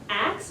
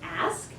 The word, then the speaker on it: ask: shall be given you AXS was the standard accepted way of pronouncing this verb in English for a long time it is ask that from the historical point of view is the wrong form right one last example